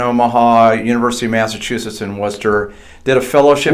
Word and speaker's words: Worcester: University of Massachusetts in Worcester, did a fellowship Worcester, I know. Worcester. So there's Dorchester. Right. You can't understand these Massachusetts people. And then there's Worcester, and they're both spelled with a T-E-R.